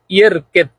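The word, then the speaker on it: يركض: আপনি এটা এমন ভাবে উচ্চারণ করবেন যাতে জাল বোঝা না যায়, দোয়াদও বোঝা না যায়, বলবেন ইয়ের কেদ।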